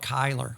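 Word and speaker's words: Qylur: five years ago now it's a company called kyler which is spelled q-y-l-u-r anybody wants to go online you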